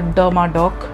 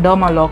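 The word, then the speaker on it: Dermadoc: do it but then the hair mask that i have been pronouncing wrong for so long is the derma dock and i have been saying dermalog dermalog dermalock it's a derma doc and it has silicones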